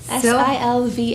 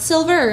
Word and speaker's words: Silva: Silva, not silver like the color.